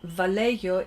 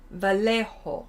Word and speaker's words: Vallejo: Oh, you don't even pronounce the L.